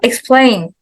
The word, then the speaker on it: explain: right so fight M now explain yes second syllable maim and then discuss